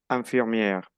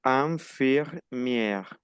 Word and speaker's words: infirmière: Elle est médecin, couturière, infirmière. enfermero, Enfermera. Atención a la pronunciación. Infirmière.